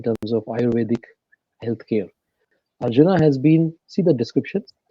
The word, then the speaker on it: Arjuna: do you pronounce Arjuna Arjuna okay yeah in India The The J is a j unlike a y here sometimes in Europe so it's Arjuna and